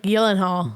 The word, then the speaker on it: Gyllenhaal: It's like Gyllenhaal.